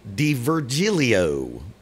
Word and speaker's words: D'Virgilio: let's check out and i had to uh look up an interview to figure out how to say his name nick d virgilio i'm probably just calling